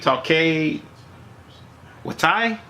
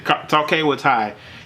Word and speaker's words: Taika Waititi: You know, of course, the actual director, which I can't really pronounce his name, Taika, I believe, Taika Waititi. I'm just saying Taika Waititi.